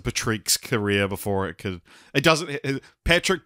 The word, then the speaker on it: Patric: Patrick doesn't have a K in it, so you and I will get to this, I'm sure, in a sec, but we've always pronounced it Patrick.